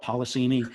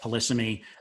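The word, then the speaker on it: polysemy: se in the profession some people i've heard call it polissemi i call it policeme uh but you know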